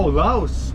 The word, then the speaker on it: Loust: How do you spell that last name? L-O-U-S-T. Oh, Loust. Yeah, Loust. Loust.